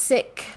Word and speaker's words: Sikh: So it is pronounced Sikh with an aspirated H, but if you say Sikh, most likely we will